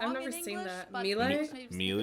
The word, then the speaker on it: Miele: I've never seen that Miele usually say something like Mila Mila um so it usually sounds more like an A in the end whereas in German we